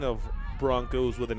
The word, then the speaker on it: Bronchos: get the equalizer so the Broncos not the bronchos but the Broncos from Odessa High that is the way they spell it closing in they can